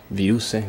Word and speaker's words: Viruse: Virus here, or Viruse, like it should be pronounced, but...